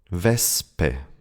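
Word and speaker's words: Wespe: So, you can see that the S and P or T do not belong to the same syllable and therefore need to be pronounced without the shh sound.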